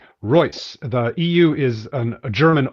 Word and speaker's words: Reuss: I get it right Roy the EU is an German oi like in Freud okay so it sounds just like the Royce and Rolls-Royce just spelled differently the Roy okay good